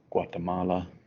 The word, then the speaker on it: Guatemala: Try to pronounce this on your own. If you can't, that is okay. It is Guatemala.